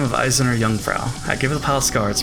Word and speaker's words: Eiserne Jungfrau: By the name of Isirin Jungfrau. I knew it pronounced. I do like this theme as well. This is Eiserne Jungfrau.